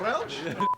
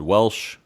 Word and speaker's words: Welch: I've said Welsh. I can't roll my eyes very well. So, what's the correct pronunciation? Oh, I think it's Welch because it's spelled Wel C H.